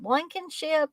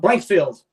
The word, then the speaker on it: Blankfield: And this is The Bitterest Pill, starring oh gosh, Blanken, is it Blankenship? Is it, or am I pronouncing that wrong? Blankfield, Blankfield. That I knew it was blank something.